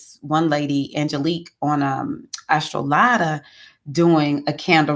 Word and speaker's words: Angelique: about candle releasing with Angelique. It looks like angelic, but she pronounces it Angelique or Angelique, something like that.